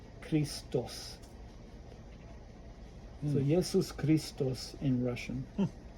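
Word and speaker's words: Христос: then you see the the x is pronounced like that Christos so Jesus Christos in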